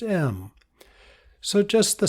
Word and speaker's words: EM: It's spelled E-M, and it's pronounced M.